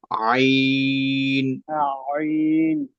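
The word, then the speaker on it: ع: এটাকে তিন ভাগ করে মাঝখানের যে অংশটা আপনি চাপ দিয়ে ধরেন মাঝখানের অংশটায় চাপ দিয়ে ধরে সেখান থেকে শক্ত করে উচ্চারণ করবেন আমরা পড়ি সকলে একসাথে পড়ি আইন এই যে আমরা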